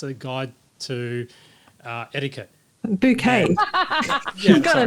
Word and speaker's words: Bucket: And it was Hyacinth Bucket's A Guide to Etiquette. Bouquet. Yeah, got a name wrong.